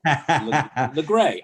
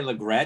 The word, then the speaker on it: Legret: That is correct, with the T is silent, yes. Oh, Legray. I didn't say Legret.